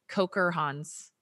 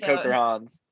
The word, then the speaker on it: Kocherhans: I know I say your name wrong all the time. Is it Kocherhans? Yeah. I got it finally. Okay, Kocherhans.